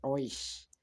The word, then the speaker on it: euch: Ich helfe euch. Remember, this one is oi sound.